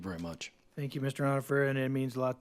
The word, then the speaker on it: Onifer: Are we saying it right? It's close, Onifer.